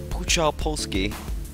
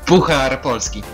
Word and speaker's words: Puchar Polski: Oh, well, thank you for coming along, because we brought you on here because it's a Puchar Polski game. Laughing at my pronunciation there, it's just completely fair enough.